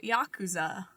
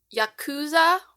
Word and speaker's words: Yakuza: game, but is it Yakuza or Yakuza? I think the emphasis is on the first syllable, but I could be wrong.